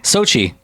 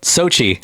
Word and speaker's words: Xochitl: Why? Sochi. Got it. Sochi. All right. But here's how it's spelled. It's Xochitl. You could Sochi.